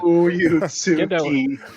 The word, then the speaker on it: Fuyutsuki: Fuyutsuki. I know how to pronounce it, too.